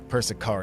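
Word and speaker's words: Persicaria: Ah, Persaria. There you go. I was trying to look. Persia is how you pronounce her name.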